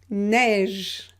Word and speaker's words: neige: C'est le son « est » ouvert. Ça signifie que EI peut se prononcer « et » ou « est » et ou est. Et pourquoi ça change? Parce que ici, eh bien, EI n'est pas à la fin de la syllabe. Non, il y a une consonne dans la même syllabe. Neige. Vous entendez le j? Il est dans la même syllabe, juste après le est.